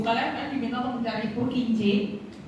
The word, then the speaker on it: Purkinje: Di situ di buku kalian kan diminta untuk mencari Purkinje, bacanya.